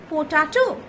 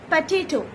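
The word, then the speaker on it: potato: পোটাটো so Seely, না পটেটো, সঠিকটা হলো পটেটো।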